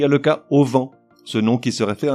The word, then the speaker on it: auvent: En revanche, pour une raison que j'ignore, on lui invente un H aspiré, qui n'existe pas, mais qui nous fait dire le plus souvent le au vent.